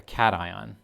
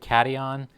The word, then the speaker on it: cation: positively charged atom a cation i've heard people pronounce it cation that's not how it's pronounced it's pronounced cation and in the flip